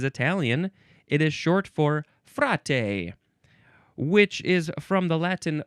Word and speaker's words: fra: Now we have fra.